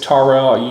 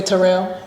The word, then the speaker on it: Tarell: But it's just hard for people to say because it's the emphasis on the first part of it. People say Terrell.